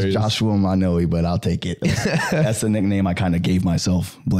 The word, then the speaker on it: Manoi: So it's Hawaiian. So like each vowel will be pronounced specifically. So Manoy. Manoy.